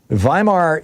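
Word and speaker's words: Weimar: says and I quote, "Vhimar, you know, this is the the the we say wear, but in German it would be pronounced W's are pronounced like V's.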